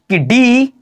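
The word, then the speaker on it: could: याद रखिएगा क्या पढ़ेंगे तो कूद पढ़ेंगे याद रखिएगा कोल्ड मत padhiyega क्योंकि एल हमारा बिल्कुल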